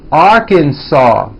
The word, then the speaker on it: Arkansas: me Alabama Alaska Arizona Arkansas the final s is silent California Colorado Connecticut Delaware